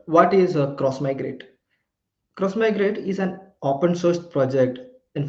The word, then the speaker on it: Xmigrate: We don't call like it is written as X migrate but we don't generally like pronounce it as X migrate.